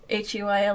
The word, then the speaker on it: huile: Well, I mean, that is what it is in French. Wheel? Yeah. Is it? Really? Wheel? Yeah, it's pronounced wheel in French. Huile.